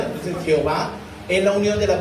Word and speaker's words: Jehová: Entonces Jehová es la unión de las vocales Adonai. Adonai significa Señor, el Señor. Entonces tomaron las vocales de Adonai junto con el tetragramatrón y salió Jehová, que es Jehová en español.